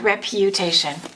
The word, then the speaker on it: reputation: and it's going to be the same sound, reputation. Reputation. Reputation. Reputation. Let's do a few more that have that U. The pronunciation is U, even though the spelling is U.